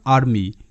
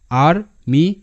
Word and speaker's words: army: উচ্চারণটা হবে মাই মাই, বাট যদি কোনো শব্দে এটা থাকে তখন কিন্তু এটা মি হয়, এ আর আর এম ওয়াই মি আর মি।